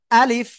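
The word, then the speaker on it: ألف: জায়গা থেকে উচ্চারণ হবে আ বলতে হবে তারপরে লিফ বলতে হবে আর লিফার সময় নিচের ঠোটের পেট উপরে দুই দাতের আগার সাথে লাগাবো লাগিয়ে বাতাস বের করব ঠিক আছে আলিফ আলিফ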